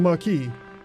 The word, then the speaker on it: Marquis: But the Marquise. Oh, Marquis. I know how to pronounce things.